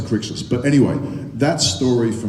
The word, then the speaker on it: Crixus: I remember the first table read-through with Peter Mensa, and he turned to me and he went, "Cretius." That was the first time my name had been mentioned in the table read, and I went, "Really? Is that how it's said?" I hope it's mentioned if it was Cretius. I'm glad it got to Crixus.